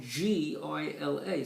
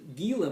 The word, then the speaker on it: Gila: monster now it's spelled g-i-l-a so you would think you would pronounce the gila monster but it's a spanish word and they don't pronounce the g it's called the gila monster and it's named